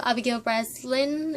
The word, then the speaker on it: Abigail Breslin: as Chanel Oberlin, and I kind of love Abigail Breslin.